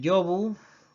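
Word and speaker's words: llobu: Y así tenemos lengua, ¿de acuerdo? Y tenemos llumbre, y tenemos el yobu, tenemos el yeite y tenemos el yagu, ¿de acuerdo? Este rasgo tampoco no se da en castellano, la L inicial no palataliza, consérvase tal cual y dicen lengua y lumbre y lobo y lago y leche.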